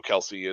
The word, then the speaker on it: Kelce: here and it's like Travis Kelce was or I'm sorry Kel because that's actually how it's pronounced uh was was actually